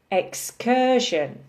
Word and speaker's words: excursion: by a small circle meaning three syllables emphasis on the second syllable excursion incursion collision confusion decision and diversion